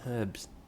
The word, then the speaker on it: herb: They pronounce H in herbs.